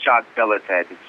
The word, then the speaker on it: Jacques-Belletêt: hear it yeah so my last name is j belled it's it's a you know it's a high fated